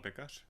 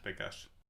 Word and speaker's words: Pekar: Pronounce your name correctly for me. Pekar. Pekař? Pekar.